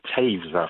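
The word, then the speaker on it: Toews: French Canadian but uh think about Jonathan Taves with the Chicago Black it's spelled T O E WS Oh yeah man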